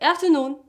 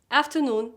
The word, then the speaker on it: afternoon: Like But unstressed, you're gonna pronounce them as the schwa, the lightest, shortest vowel sound in English. Like afternoon, or pattern, afternoon, after, after, and pattern, pattern.